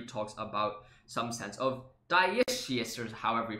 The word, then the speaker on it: dioecious: Okay, so he says, well, the term for having two species is called Diecious. Now I know how to pronounce it.